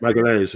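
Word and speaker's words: Magalhães: Gabriel Magalhaes, is that how you say it? Magalhaes, yeah.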